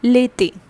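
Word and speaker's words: l'été: it is called late l apostroph that which we have done in the previous episode all right then e accented you d e accent eq that becomes lethi okay so whenever we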